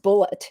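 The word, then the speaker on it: Bulleit: YouTube video that said it's actually pronounced bullet yeah b-u-l-l-e-i-t the the alcohol yeah and I I really did think it was bourbon but um fancy has said it it was bullet Rye okay very interesting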